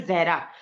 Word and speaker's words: जहरा: आप मुसलमान है एक्चुअली मेरा नाम जो है जहरा तो मोस्टली जो नॉन मुस्लिम होते हैं वो प्रोनाउंस नहीं कर पाते वो जारा बोल देते हैं ठीक है तो